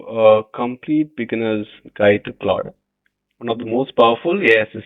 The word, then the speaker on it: Claude: It's not cloud, it's Claude. So this is how we pronounce it. It's Claude, not cloud.